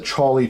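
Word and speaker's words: Chawly: You guys can check it out anyway, but yeah, and people always say, how do you say, because I said the Charlie Changer, and people are like, the Holly Changer, the Collie Changer, what are you saying, Jeff?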